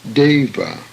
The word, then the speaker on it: deva: The E in English is a semi-diphthong and pronounced as in the word day, hence deva.